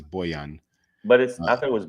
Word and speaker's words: Bojan: I thought it was Booyah. It looks like Bojan, but it's Bojan.